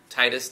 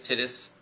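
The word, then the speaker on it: Tidus: Final Fantasy 10 I mean t-this is dead Titus Titus I've heard it pronounced both ways he's dead the entire time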